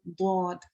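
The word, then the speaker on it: ضاد: It is a mistake to pronounce it like the letter dal. So it's not a dal, okay? It's a dad.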